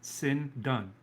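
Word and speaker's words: σινδόνη: The Greek word for linen, it might be linen cloth, is phonetically pronounced sin done. Sindone.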